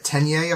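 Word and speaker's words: Tenya: I'm worried I'm going to be pronouncing these wrong. No, Katsuki's right. Tenye is right.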